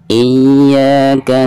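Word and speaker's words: إِيَّاكَ: Iyyaka na'budu wa iyyaka nasta'in. Nah, di sini harus ada tekanan dari hamzah, kasroh hamzah ke ya.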